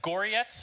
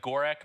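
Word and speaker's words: Gorec: had a conversation with kipp it's just like gorietz his name is spelled g-o-r-e-c it looks like gorek but uh in the cyrillic it's pronounced close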